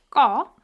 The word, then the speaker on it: 거: It's pronounced 거.